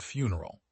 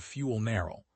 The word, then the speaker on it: funeral: He could not say the word funeral. Whenever the topic came up in committee, he said fuel-narrow, not funeral, fuel-narrow, with the stress on the first syllable as if it had something to do with combustion.